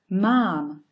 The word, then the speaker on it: mám: However, the word I have, or the sentence I have, is in Slovak read pronounced mám. Mám. So as you can see, it's actually the same word, just having a long vowel in, and the meaning is completely different.